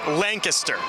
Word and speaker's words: Lancaster: It's spelled Lancaster. It's pronounced Lancaster.